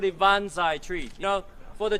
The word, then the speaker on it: banzai: That's a Japanese pronunciation.